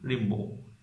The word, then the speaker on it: Rimbaud: সেটা ঠিক আছে কি রিম্বো। আর এখানে যে লাস্টে ডি আছে, ডিটার উচ্চারণ হয় না, রিম বো, BAU বো, ডিটার উচ্চারণ উচ্চ থাকবে।